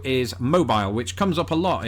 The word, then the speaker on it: Mobile: Unless you're down in Alabama where there's a city spelt exactly the same way, pronounced mobile, and that is why this word makes my brain melt through my nose.